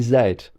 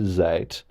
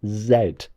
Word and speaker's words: zed: Why didn't they call it zed?